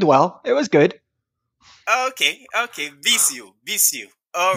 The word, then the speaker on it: Bisiot: How do you pronounce your surname? Bisiot. Bisiot. Yeah, but you did well. It was good. Okay. Bisiot.